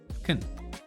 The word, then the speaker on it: can: En el positivo, I can swim, ocupamos la versión débil de can, que se pronuncia con schwa, can. Entonces va a sonar más corto y suave.